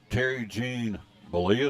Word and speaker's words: Terry Gene Bollea: Terry Gene Bollea is how you say his name, known as Hulk Hogan.